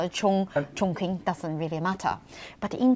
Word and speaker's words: Chongqing: yeah, we head off to, is it, no, my pronunciation may go Go wrong, down. is it Chongqing?